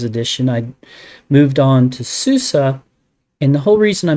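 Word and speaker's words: SUSE: Center and buy um this he called it Susie but uh I now know the correct pronunciation is Susa but why don't you go buy it it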